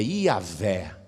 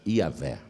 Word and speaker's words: Iavé: Ninguém sabe direito como se fala o nome de Deus. O mais aproximado é Iavé. O mais aproximado, Iavé.